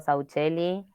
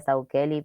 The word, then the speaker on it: Sauchelli: Yo le digo Sauchelli. En teoría sería Saukeli, pero ¿quién pronuncia así sus apellidos?